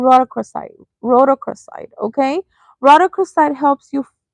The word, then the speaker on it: rhodochrosite: Okay, so I know how to pronounce this. This crystal is called rhodochrosite.